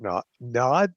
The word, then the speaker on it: Naud: be listening to Robert Naud or no. How's that No. pronounced? It's pronounced no because he's French.